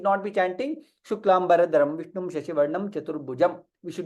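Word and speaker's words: शुक्लाम्बरधरं विष्णुं: Yes, it is not the right way of pronouncing the shloka, because it is Mahaprana, right?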